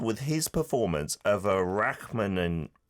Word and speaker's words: Rachmaninoff: So, uh Yunchan Lim, he made the world go wild with his performance of a Rachmaninoff I'm going to mispronounce this, aren't I? Rachmaninoff? Rachmaninoff. Rachmaninoff. There we go.